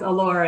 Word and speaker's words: Elora: are you in ontario is it elora am i saying it right elora is that the city yes allura it's a small little